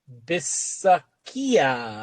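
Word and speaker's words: Bisaccia: Rich Bisakia, I believe is how you say it.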